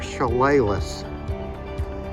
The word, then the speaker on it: Chehalis: That's how you pronounce it. At that mural right there, Chehalis.